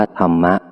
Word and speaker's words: ธรรมะ: เข้า ใจ ชัด เช่น ธรรม ที่ สะกด ด้วย ท ธง โดย มาก ถ้า ไม่ มี คำ ต่อ ท้าย ส่วน ใหญ่ จะ อ่าน ว่า ธรรม แต่ เพื่อ ไม่ ให้ เข้า ใจ ผิด ว่า เป็น คำ ว่า ธร คำ เดียว กับ การ กระทำ ที่ สะกด ด้วย ท ทหาร ดัง นั้น ผู้ บ ทึก เสียง จึง จำเป็น ต้อง อ่าน ว่า ธรรมะ ใน เกือบ ทุก ประโยค ขอ เชิญ ร่วม กัน